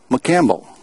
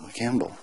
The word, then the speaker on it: McCampbell: Or as the British say, aluminium. And this is a McCampbell, M-C, C-A-M-B-E-L-L, McCampbell.